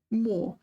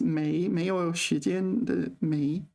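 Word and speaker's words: 没: here this is one of these cases where more this is usually pronounced may may me but here it's pronounced more um right all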